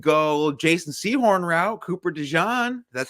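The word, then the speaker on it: DeJean: or we could go Jason seahorn route Cooper dejan that's how you say it I was gonna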